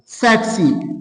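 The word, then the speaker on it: tsetse: उस फ्लाई का नाम है we call them the what सेट सी पढ़ा जाता है। क्या शाबाश सेट सी टी यहां पे आप लोग एज ए साइलेंट लेंगे।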